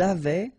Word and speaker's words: avaient: Ils avaient, so look here, ENT, you write them, you don't pronounce them.